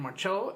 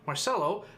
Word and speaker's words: Marcelo: Armero and Marcello as the Why do I keep pronouncing it Italian? Marcelo as the attacking midfielders.